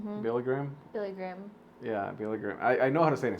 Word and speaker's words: Billy Graham: And I remember going inside, and they're playing a video of Bill Graham. Billy Graham? Billy Graham.